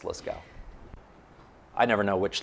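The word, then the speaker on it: Lascaux: called the la scale cave that's how you pronounce it let's go i was saying lasso for a long time it's liskow i never know which letters to pronounce and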